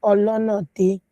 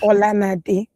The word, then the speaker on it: Olonade: Tony, I have always told you it is Olonade, not Olanade.